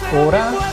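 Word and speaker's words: אורה: Cabe señalar que la palabra luz en hebreo se pronuncia Or, pero cuando se le añade la letra Hei, ahora se pronuncia Orá, y ya no solamente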